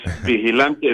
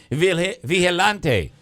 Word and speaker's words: vigilante: So the G, which I should have known, would be silent there, as an H, more of an H. The G is pronounced like an H.